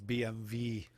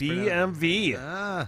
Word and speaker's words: BMW: W in German is V, so it's BMV is what it's supposed to be.